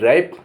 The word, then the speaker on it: wrap: अब जहाँ W silent होगा वहाँ क्या होगा? WRATH, रैथ। रैथ माने क्रोध। WRAP, रैप।